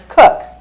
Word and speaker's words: Koch: Cook. Sorry, it's spelled Koch.